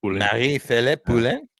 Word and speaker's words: Marie-Philippe Poulin: I can't understand why they wouldn't have Marie-Philippe Poulin. Is that how you say her name? Yeah. Marie-Philippe Poulin.